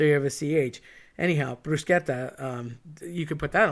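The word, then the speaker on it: bruschetta: which leads me to another topping that's often mispronounced and that is brusketta people say brushetta I get why you say it but it's technically brusketta so let's have a little talk about that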